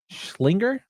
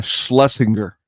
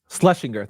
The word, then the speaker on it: Schlesinger: James Danforth directed by John schlinger I think that's what the name is schlinger I think uh Schlesinger slesinger thank you sir you're welcome uh